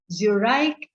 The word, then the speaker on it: Zurich: in zurich now said u r i c h zurich is the english pronunciation in german it is